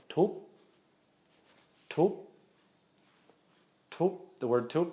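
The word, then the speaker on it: ทุบ: And so this is going to be pronounced again as a short, high tone. Tup, tup, tup.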